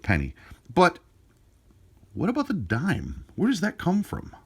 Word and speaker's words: disme: Well, they were called dimes, but they were spelt just a little differently. They were spelt D-I-S-M-E, but they were still pronounced dime. They had the S silent.